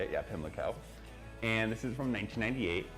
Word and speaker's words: Pimlico: Yeah, Pimlico.